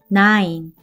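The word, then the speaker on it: nine: 애는 는 아이는 아이 에는 이는 발음이 나지 않고 한 번에 읽으면 나인 나인 뜻은 짜 구라는 뜻이죠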